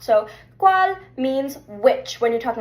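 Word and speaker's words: cuál: So this kind of sounds like an English Q, but it's actually a C in Spanish with a U after it.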